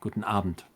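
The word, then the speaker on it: Guten Abend: But no, but that one well gluten gluten aband um the pron the emphasis is on the first syllable. Guten Avent basically.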